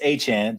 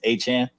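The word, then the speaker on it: Etienne: 12 I have Travis a Chan by the way that is the Louisiana pronunciation is a Chan um rb11 from madre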